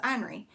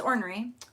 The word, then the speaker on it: ornery: that the word yes definitely is ornery because i saw it written down somewhere and i was like oh my gosh my whole life i have thought the word was henry and you say henry haley because i mean i would have written it like o-n-r-e-y but that's not it um oh my gosh